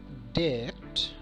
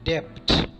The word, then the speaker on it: debt: It is debt, not debt.